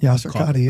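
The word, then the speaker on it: Yasir Qadhi: Uh Yasser Qadhi, is that how you say it? Yasser Qadhi.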